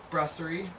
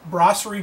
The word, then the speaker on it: Brasserie: And so we brought in probably the most worldwide recognized Saison, which is Saison DuPont from, how did you pronounce that word again? Brasserie. Brasserie DuPont from Belgium.